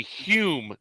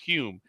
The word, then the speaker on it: Hume: when some guy named Hume everyone said the guy's name is hum yeah that's the way you spell it but it's actually pronounced Hume he got in the